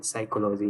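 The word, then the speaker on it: psychology: हैं दोस्तों मां अविज्ञान साइकोलॉजी यहां पर पीस साइलेंट होता है दोस्तों आज का नेक्स्ट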